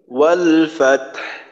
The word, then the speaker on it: والفتح: ওয়াল ফাতহ, ওয়াল ফাতহ। আচ্ছা বাতাসের সাথে হা উচ্চারণের সময় বাতাস বের হয়, ওই বাতাসের সাথে একটু আওয়াজ থাকবে।